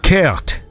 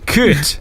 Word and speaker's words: kut: of words or swear words that start with kut. That means cunt. I would never have guessed. Really? Wait, so how do you say it? Say it again? Kut. Kurt.